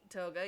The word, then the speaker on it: Toga: Anyways, Toga, is that how you pronounce her name? Toga, yeah.